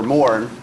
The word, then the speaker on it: Moran: Our auctioneers right here, Andrew, and then we have Hal Wendling, Jack Lewis, Grant Wendling, and then we have Moran, or Morn, the correct Irish pronunciation.